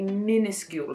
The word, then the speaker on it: minuscule: Again, there's a kind of a Y sound, a Y sound in the end of that word.